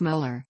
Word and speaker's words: molar: denoted by a capital letter M pronounced molar sometimes preceded by an